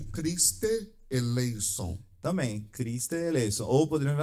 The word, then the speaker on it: eleison: Se fosse falar com a pronúncia reconstituída ou erasmiana antiga, é eleison. É eleon, que seja já gastaram um tempinho no E. No segundo E. É um eta, é um epsilon e um eta. Sim. Eison. E não ei, porque no moderno o eta é ita.